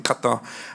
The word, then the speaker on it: Qatar: i'll talk about it so i lived in qatar at qatar sorry pronounced qatar for four years and there was something called